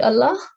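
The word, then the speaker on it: الله: the Majestic lamb yes so if you find a fatha before this lamb you will pronounce it as you are pronouncing in a thick sound so you are pronouncing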